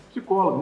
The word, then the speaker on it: psicólogo: Psicólogo, não é psicóloga, é psicóloga. O P é mudo.